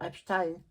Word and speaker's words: Epstein: gens sont focalisés sur Epstein. Bon, je ne veux pas parler de lui aujourd'hui parce que j'en ai assez parlé. Et puis il faut prononcer Epstein et pas Epstein.